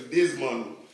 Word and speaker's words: Desmond: Mais il ne pas prononcer le démon, il prononce le Desmond.